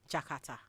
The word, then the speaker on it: J'kARTA: They said why don't we pronounce pick the phonetics in the word and put the words of it from J apostro k a r t a which will still sound jakata and give it the